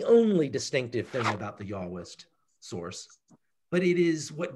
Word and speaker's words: Yahwist: It's called the J source because it stands for Yahwist, as in J is pronounced with a Y sound, Yahwist, which is based on the